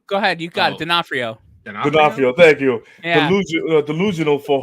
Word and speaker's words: D'Onofrio: Oh, I always get this guy's name wrong. Go ahead, you got it. D'Onofrio.